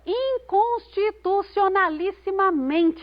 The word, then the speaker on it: inconstitucionalissimamente: Mas nós só podemos encontrar a sílaba tônica próxima do final dessa palavra. Inconstitucionalissimamente é o men a sílaba tônica. O men é a penúltima sílaba dessa... Não, é a penúltima sílaba dessa palavra.